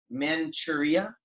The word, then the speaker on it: Manchuria: The war developed from Russia's and Japan's rivalry for dominance in Korea and Manchuria? Is that how it's pronounced?